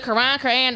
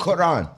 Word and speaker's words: Quran: you could read the Quran, however you want to say it. You could read. Quran. Okay, Quran. if you want to roll your R, that's cool.